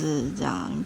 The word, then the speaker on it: 霧多布: Cape Kiritappu. How do you read "岬"? You don't know how to read it? Well... Kiritappu... Oh, there's another one over there! That's how you pronounce Kiritappu.